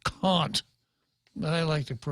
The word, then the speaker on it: Kant: from from there to a manual cat actually pronounced caught but I liked it